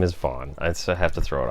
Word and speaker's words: Vaughn: Maybe his middle name is Vaughn. I have to throw it out there. It's spelled V-A-U-G-H. V-A-U-G-H-N. Yeah, like Vince Vaughn.